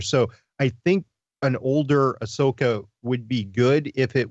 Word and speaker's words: Ahsoka: Dawson casting is I'm thinking we'll get your Sokka is Sokka or how do you pronounce it Chris ahsoka ahsoka so I think we're gonna get the